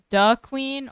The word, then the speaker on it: DeQueen: Is it pronounced "duh queen" or "D queen"? Duh queen. The champs. 56% of people said "duh queen."